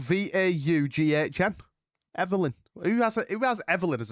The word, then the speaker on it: Vaughn: Pronounced Vaughn.